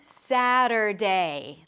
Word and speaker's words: Saturday: You start with an S sound, then the A as in cat. Sa, sa, sa. As in, I sat down. Sa. Then the T is a flap T, so it sounds like a D or like a very short R sound in some languages. Sada. Then you drop the tongue to a schwa. Sada, sada, sada.